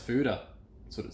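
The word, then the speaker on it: foeder: that's interesting what is a foider well it's pronounced fuda that's what it says in its simplest form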